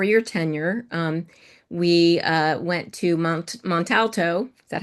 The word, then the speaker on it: Montalto: And that actually culminated in, before your tenure, we went to Montalto.